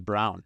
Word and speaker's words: Braun: and see who many how many people would pronounce it Bron versus brown see our our family